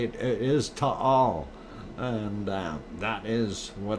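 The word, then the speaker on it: Taal: that it's pronounced as tall um so uh anyway uh when you hear the locals down there say it is to all and uh that is what it is it's two syllables um i guess they're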